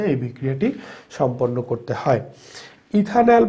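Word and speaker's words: ethanal: ইথানেল উচ্চারণটা খেয়াল করতে হবে, এটা হচ্ছে ইথানেল।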